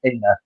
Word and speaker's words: Aina: I keep on for Aina. That's how I pronounce it. Aina.